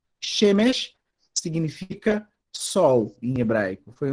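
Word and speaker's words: שמש: Quando acontece esse fenômeno, a sílaba que está o primeiro segolo, ela se torna acentuada e mais aguda. Então, se é E, fica E, ou pelo menos um tom mais agudo. Né? Shemesh, por exemplo, não dá para fazer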